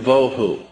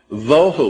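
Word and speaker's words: בֹהוּ: that are being translated there is too and voo pronunciation it would be t o e hyphen wh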